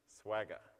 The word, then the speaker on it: Swagger: way of doing it Swagger okay if you can't remember it it rhymes like with MC Jagger I've got little girls